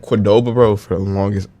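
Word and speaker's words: Qdoba: four times a week how do you say it quordoba quordoba yeah that's how I say it some people say Coba that's what I say Coba yeah I don't really like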